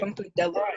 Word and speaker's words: Funkadelic: Funkadelic is how you pronounce it, by the way.